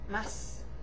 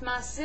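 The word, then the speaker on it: ます: You see, the thing about this is that in Japanese, when masu is at the end of something, or end of a sentence, it's not pronounced masu any longer. You see, Japanese is spoken pretty slushously, quickly, sometimes. So, masu, instead of saying masu, you just say mas.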